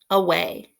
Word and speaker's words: away: it on your board away is an interesting word because the first a makes the schwa sound like ah and then the long a sound is spelled with a y at the end a way the next word is